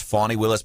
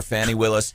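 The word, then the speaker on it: Fani Willis: what fan and I know her name is pronounced fawnee Willis but I can't do it sounds weird saying funny so I'm going to call her Fannie Willis it sounds weird weirder than Fanny uh yeah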